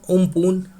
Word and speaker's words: Amphan: Because cyclone Amphan, which we have discussed last day and which is pronounced as Umpoon, and this name is given by Thailand.